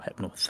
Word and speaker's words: Hypnos: Or Hypnos, or how you That is pronounce it.